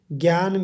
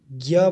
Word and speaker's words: ज्ञ: झ ञ है, उसमें जो ञ है उसे जोड़ने से ये ज्य बन गया। इसको ज्ञ ही पढ़ा जाता है। वैसे तो हिंदी में ज्ञ पढ़ा जाता है, लेकिन